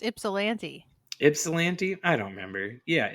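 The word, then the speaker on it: Ypsilanti: how to pronounce it I think you're right it's ipsilanti because it's YP s i l n TI it's the home of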